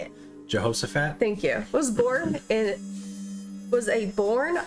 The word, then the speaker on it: Jehoshaphat: James Jehoshaphat. Why did I say it like that? You say it. Jehoshaphat?